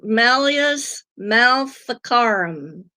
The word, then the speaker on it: Malleus Maleficarum: So, yeah, Jessica, Malleus maleficarum. I think that's how you pronounce it.